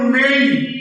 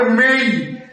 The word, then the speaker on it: may: যেমন আমরা MAY এই শব্দকে সারা জীবন উচ্চারণ করেছি মে, মে, কিন্তু এটা ভুল উচ্চারণ। মে হবে না, হবে মেই, মেই, মেই, মেই।